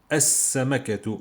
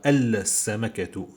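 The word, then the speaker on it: السمكة: Je dis as-samakatu. Je dis pas al-samakatu. Je dis as-samakatu ici.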